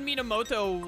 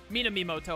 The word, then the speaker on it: Minamimoto: Like, who could Minamoto, like... Minamimoto, I always, like, say his name wrong, but I should just call him Sho.